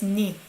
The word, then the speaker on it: 네: That's why in the case of your, we don't pronounce 네 normally. We pronounce it as 니.